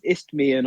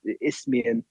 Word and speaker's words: Isthmian: The league, which I always pronounce this, Isthmian League Southeast Division. Correct. I've said it correct. Good that. And it's only taken me about 6 months to say it properly.